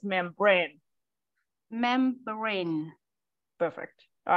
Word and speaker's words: membrane: All right, so you still putting the stress on the first syllable. So try to remember to put the stress on the second syllable for the membrane.